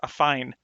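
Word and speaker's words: affine: did look that up according to google that's how you pronounce it as a fine and then match previous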